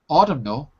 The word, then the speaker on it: autumnal: silent except in certain cases like autumnal you're putting an ending onto a word so the end is part of that ending i guess we could say it like that when it's part of that ending you say it banknote you're putting two